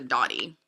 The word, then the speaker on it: Dotty: I always said the dolly, and it's not, it's the dotty.